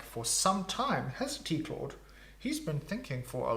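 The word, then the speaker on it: Claw'd: Come, Claude. Yes, come, kitty. Yes. Everyone say hi to Claude. Claude is spelled not like a human who would be named Claude, but CLAW apostrophe D.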